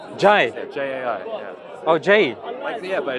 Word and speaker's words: Jai: Oh, Jai. Yeah, but it's pronounced Jai.